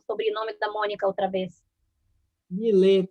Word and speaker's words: Millet: Millet, se escreve M-I-L-L-E-T. Millet.